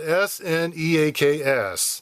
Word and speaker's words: Sneaks: And it's spelled s n e a k s.